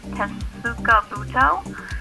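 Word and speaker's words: Tetsukabuto: to say it the right way but it's tessuka it's t-e-t-s-u-k-a-b-u-t-o and that's a hubbard squash seed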